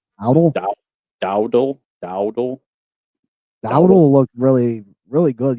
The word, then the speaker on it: Dowdle: It's Dowdle. Like Dowdle? Dowdle.